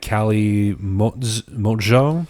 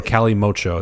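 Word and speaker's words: calimocho: It would sound like Cali Mojo. So then, or Cali Mocho. That's how it's coming up on Google.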